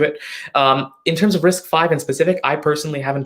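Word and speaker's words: RISC-V: risk fiber risk yeah i've never really learned a pronunciation for that one but i believe it's risk five architecture compared to x86 now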